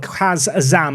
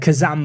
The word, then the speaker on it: Kaz Azam: You are just going to have to get used to the fact that Kaz Azam has always said Kazam by me in excitement.